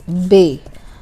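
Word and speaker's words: ب: So the letter is like this, B, and the name of the letter is Bay, like Bay Area or something.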